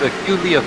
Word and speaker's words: Aculeus: Because I always mispronounce it. Yeah, it's Aculeus Racing. Aculeus Racing.